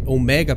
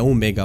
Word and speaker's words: Omega: É porque é Omega, pessoal, é a pronúncia em inglês, tá? Então às vezes eu troco as palavras. Eu sei que é Omega o correto em português, tá?